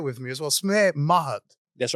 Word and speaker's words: Mahat: Samir Mahat.